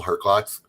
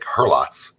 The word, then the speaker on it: Herklots: more with Herklots, unless I want to say it like Herlots. Then you say it like everybody else. Yeah, well, I'm sure was calling him Herlots at the beginning. I finally had to correct him. I said, there's a K in there somewhere.